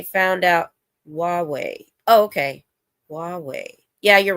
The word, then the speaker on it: Huawei: Oh, okay, Huawei.